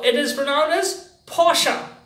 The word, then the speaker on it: Porsche: German carmaker so it is for now this Porsche Porsche Porsche yes now the next one it's chinese